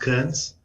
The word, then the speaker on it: Kearns: may go ahead um Mr is it currents or how does it pronounced yes thanks Jay yeah it's pronounced Kearns um my name is